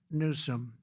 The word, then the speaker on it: Newsom: If Gavin Newsom let the water come down, see the way I pronounced his name properly for a change, if